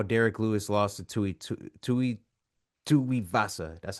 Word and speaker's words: Tuivasa: You know, and even seeing how Derrick Lewis lost to Tuivasa, that's how you say his name.